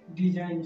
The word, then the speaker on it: design: पर हम इसको वैसे तो इसको नॉर्मल वे में हम लोगों को पढ़ना चाहिए डिजिग्न, बट डिजिग्न ना पढ़ करके इसे हम क्या पढ़ेंगे, डिजाइन, क्योंकि यहाँ पे जी की जो साउंड है वो साइलेंट हो जाएगी। तो यहाँ पे जी का साउंड गा ना आकर के जी का बिल्कुल साउंड साइलेंट ही हो जाएगा, इसलिए हमको यहाँ पढ़ेंगे डिजाइन।